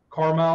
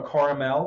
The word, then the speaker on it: Carmel: Carmel or Caramel. There's a couple different ways to pronounce that.